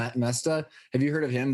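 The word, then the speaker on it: Moesta: Bob, how do you pronounce his last name? Mesta.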